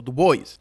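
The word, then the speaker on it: Du Bois: booker te Washington y dubuis o du Boys hay un debate sobre Cómo se pronuncia Yo siempre digo dubis porque al parecer Esa era la forma de pronunciar el apellido originalmente pero du Boys debido a que hablaba inglés primariamente decía du Boys booker t Washington creía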